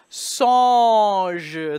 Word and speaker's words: songe: No double N, just a single N. So we get the nasal vowel. Songe.